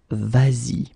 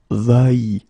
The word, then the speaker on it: vas-y: normally va like that, you will have to modify it and put this s here just to get the sound vas-y instead of va-y.